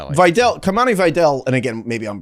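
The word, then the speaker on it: Kimani Vidal: interview where that's like where how he was pronouncing his name. Yeah. So, Kumani Videl.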